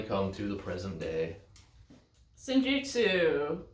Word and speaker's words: Senjutsu: Senjutsu, or Senjetsu, as a lot of people seem to like to pronounce.